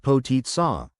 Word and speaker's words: Potica: Potica, pronounced Potica, is more than just a pastry, it's a symbol of Slovenian identity and hospitality.